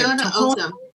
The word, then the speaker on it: Tohono: And it's the Toho, help me out with the pronunciation, ladies, if you would. Tohono.